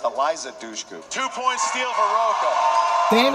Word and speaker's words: Eliza Dushku: It's Alicia Duku. Am I pronouncing that right? I'm not going to give you Alicia Duku. It's Eliza Dushku.